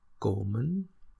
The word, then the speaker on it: komen: So komen and hope, you see, if you do the whole syllable trick, divided into two syllables, ko and men, so of course you have the long sound.